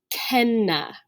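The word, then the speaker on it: cena: this word here c-e-n-a this word is actually pronounced ken right so the letter c is always a k sound in classical latin now the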